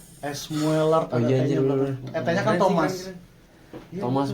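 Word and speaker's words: Müller: Jadi ada kan biasanya iya karena di U-nya kan ada titik dua kan. Heeh. Oh iya sih benar anjir. Oke. Kan IG-nya namanya mueler kan bacanya mueler tnya etnya kan Thomas.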